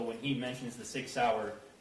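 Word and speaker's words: Sauer: he mentions the six sour he mispronounced sour as Sawyer which if you purchased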